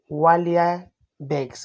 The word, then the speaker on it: Walibex: Inspired by the Walibex, of course, this is how it is actually pronounced, one of the rarest wild goats on the earth.